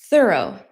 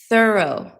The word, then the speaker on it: thorough: O U G H O U G H O So I said thorough. Thorough. This is how you say it with an American accent. Thorough.